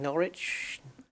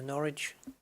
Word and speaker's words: Norwich: nice little flight so where are we going norwich nor which or which oh if i if